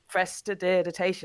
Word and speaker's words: prestidigitation: Prestidigitation.